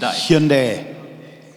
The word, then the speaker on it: Hyundai: word for modern human unites so he and Hyundai Hyundai and Hindi get back yeah well I